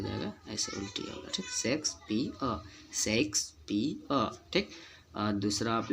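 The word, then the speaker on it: Shakespeare: यार वाला एग्जाम्पल एक आध और, जैसे कि हम देखते हैं शेक्सपियर हम लोग बोलते हैं, जो कि गलत है। पियर और अंतिम में साइलेंट रहता है, क्योंकि आर इसके नाम में आता है, जो कि हमको साइलेंट रखना पड़ता है। कोई वर्ड में ये साइलेंट रहता है, बोला नहीं जाता, जो कि मतलब अपने अ साउंड वहाँ दे जाता है साइलेंट होके। शेक्सपियर, ठीक ना।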